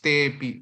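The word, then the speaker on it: ते ऽपि: Okay, te api, we pronounce as te pi. When they become very close to each other, it becomes te pi.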